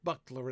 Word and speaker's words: buckler: Buckler is the only word in the entire poem which is not iambic. because it has a stress on the first syllable.